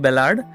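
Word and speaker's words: ballad: ये जो पोएम है this poem is अ बैलाड। Form की दृष्टि से देखा जाए तो कुछ लोग उसको बैलेड या इसका जो करेक्ट प्रोनाउंसिएशन होता है बैलाड।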